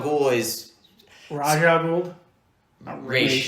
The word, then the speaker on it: Ra's: Ra's is actually how you say his name.